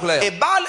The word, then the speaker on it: Ebal: l'autre montagne le mot Ebal ça s'écrit comme vous l'entendez Garizim avec G A R I Z I M Garizim comme vous l'entendez Ebal également comme vous l'entendez